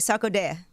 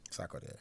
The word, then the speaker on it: Sarkodie: Let me say his name right, Sarkodie. Sarkodie, yes.